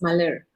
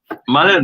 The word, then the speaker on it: Malar: Okay, by the way, you got my name wrong. It's Malar. Malar, yeah, yes, Malar.